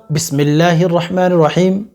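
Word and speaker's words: بسم الله الرحمن الرحيم: আমরা প্রত্যেকে জানি ভাই অনেকেই কিন্তু উচ্চারণ সহি ভাবে করতে পারে না কেননা তারা শিখে না ছোটবেলা থেকে বিসমিল্লাহির রাহমানির রাহিম এভাবে কিন্তু অনেকে তেলাওয়াত করতে পারেন না অনেকে বলে থাকেন বিসমিল্লাহির রহমানির রাহিম আস্তাগফিরুল্লাহ এভাবে তেলাওয়াত করবেন না ভাই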